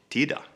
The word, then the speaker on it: titta: So the word hitta, to find, is hida, or the word to understand, fatta, is fada, or titta, look, tida.